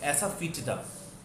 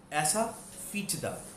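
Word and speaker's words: asafoetida: हींग होती है ऐसा फीटदा, ऐसा फीटदा, ऐसा फीटदा, ऐसा फीटदा। इसको दो पार्ट्स में एक बार पहले प्रैक्टिस कीजिएगा। ऐसा फीटदा, एक साथ बोलेंगे ऐसा फीटदा, ऐसा फीटदा।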